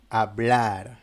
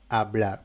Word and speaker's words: hablar: même manière qu'en français, on ne prononce pas la lettre H normalement si elle est isolée. Par exemple nous avons le mot hablar hablar, parler hablar. Et bon, la lettre H est muette.